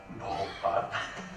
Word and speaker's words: Bhopal: I'm really touched actually to see Bhopal for the first time. I should say it properly, Bhopal.